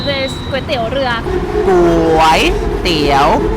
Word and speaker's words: ก๋วยเตี๋ยว: Call this เต๋ยว เรือ ก๋ว เตี๋ยว both syllables are Rising Tone กย means means How